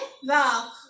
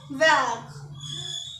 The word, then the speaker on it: vert: तो इसको बोलते हैं वैक। क्या बोलते हैं? वैक। तो ग्रीन को बोलेंगे हम वैक।